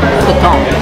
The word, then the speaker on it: poutine: 文发音，所以应该是普通，不是普丁，可是现在听大家都是讲普丁。